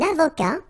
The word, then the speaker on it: avocat: Un avocat. Un comptable. Un architecte. Un scientifique. Un instituteur. Un bibliothécaire. Alright, so let's see them. Un avocat, so remember, liaison here and then final T not pronounced, okay?